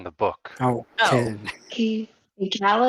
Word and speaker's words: Kaladin: his name is supposed to be pronounced Kaladin.